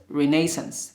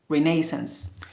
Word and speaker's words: renaissance: one the word 38 renaissance renaissance is american english british english pronounced renaissance renaissance it means revival rebirth renewal of life or vigor for example to experience renaissance or we can say